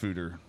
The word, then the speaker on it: Foeder: Foeder, pronounced Foeder. So it is pronounced Foeder. That's what we got from OnStark. Okay. Is the Dutch word for a large oak tank where beer is fermented.